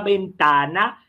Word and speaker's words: ventana: Una puerta vieja es peor que una ventana. Olha só a pronúncia do V do espanhol.